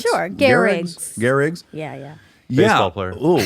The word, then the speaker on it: Gehrig: Lou Gehrig's? Sure, Gehrig's.